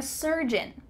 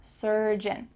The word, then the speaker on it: surgeon: the word surgeon, surgeon, the end of that word is beautifully pronounced. It's kind of swallowed. Surgeon, surgeon.